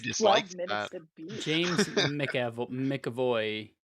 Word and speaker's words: McAvoy: James McAvoy. McAvoy, James that's right.